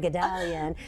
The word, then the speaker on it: Guldalian: So I'll just keep going, Guldalian.